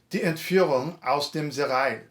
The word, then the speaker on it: Die Entführung aus dem Serail: Die Entführung aus dem Serail.